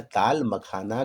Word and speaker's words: ताल मखाना: तालम खाना, जैसे दवा खाना, इबादत खाना, नौबत खाना, उसी तरीके से कुछ लोग इसका उच्चारण तालम खाना कर देते हैं, जो कि गलत है।